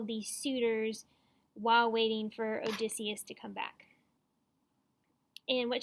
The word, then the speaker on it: Odysseus: But his like way home is just, I think, did I say his name was Odyssey? It's Odysseus if I said the wrong thing, sorry.